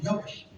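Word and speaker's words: YHWH: C'est Yawash. Y-H-W-H. Donc ça, c'est la prononciation de Y-H-W-H. Là, c'est en français, Y-H. Mais en hébreu, on dit Yawash.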